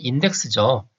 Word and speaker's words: INDECS: 자, INDECS 발음하면 인덱스죠. 보통 이제 우리가 찾아보기 하는 인덱스하고 발음이 비슷한데 Interoperability of Data in E-commerce System.